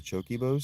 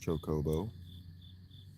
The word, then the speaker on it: chocobo: Do the choke bows sell the items? The choke bows sell the items. I'm into it. I know it's pronounced chocobo. I'm a grown man. I can pronounce things wrong if I choose.